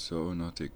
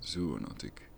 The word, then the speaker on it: zoonotic: it's so zoonotic according to Google the correct pronunciation is not so notic but zoonotic is it obligatory in China to wear masks